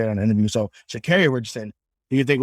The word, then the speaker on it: Sha'Carri: So Sha'Carri Richardson, do you think it would have been different if she had been allowed to be in the race?